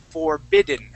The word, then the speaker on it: forbidden: is the D so listen when I say the word forbidden okay you hear how my tongue hits the top of my mouth forbidden forbidden forbidden forbidden